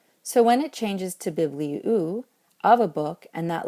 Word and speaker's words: βιβλίου: Biblion wants to keep an acute over the iota in the second to last syllable. So when it changes to bibliou, of a book, and that last syllable becomes